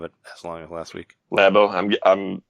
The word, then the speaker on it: Labo: as long last week lab oh I'm guessing it is pronounced lab oh not labo or labo and well labels like it's too close to labia right and I guess